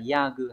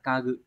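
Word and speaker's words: 家具: được một với hai, vấn đề là ya gư hay là ka gư, bởi vì chữ ra cũng có đọc là ya, nhưng mà trong trường này nó sẽ đọc là ka đúng không?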